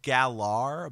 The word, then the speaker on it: Galar: It's spelled Galar, but in all of the videos they say, like, Gala. So, like, the R is silent.